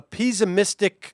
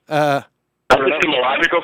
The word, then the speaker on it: epistemological: I learned from Chris Hayes that's called a pessimistic closure, I think it is. What is that? What is it? Am I pronouncing it wrong? Epistemological closure?